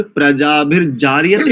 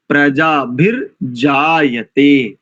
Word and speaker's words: प्रजाभिर्जायते: और प्रजाभिर्जार्यते नहीं, प्रजा म्यूट कर लीजिए, थोड़ा सा इको हो रहा है। प्रजाभिर्जार्यते नहीं है, प्रजाभिर्जायते, जायते, प्रजाभिर्जायते।